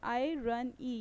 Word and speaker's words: irony: ठीक है, अब हम लोग यहाँ पे बात कर लेते हैं हाउ to pronounce आयरनी। आई रन ई, यहाँ पे आपको इसका